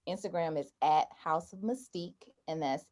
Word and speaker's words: mystique: is at house of mystique and that's h o u s e o f m y m-y-s-t-i-q-u-e i have to say i have to uh spell it out because some people say mystic or they'll spell mystic